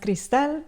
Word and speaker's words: Cristal: Um, well, my name is pronounced Crystal, you know, when you say it in Spanish, so that gives it away.